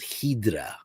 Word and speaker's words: Hydra: to a a beautiful island called hedra spelled like Hydra which is kind of